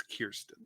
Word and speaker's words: Kirsten: say that is because she recently said no one ever pronounces my name right. It's Kirsten.